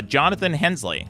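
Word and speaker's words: Jonathan Hensleigh: and who's the guy who did Armageddon Oh Jonathan Hensley right is that is pronounced yes yes yeah he worked on Armageddon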